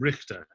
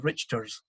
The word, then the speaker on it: Richter: Jacob Richter, is that the English pronounced it as in, not as in Loch, but as in rich.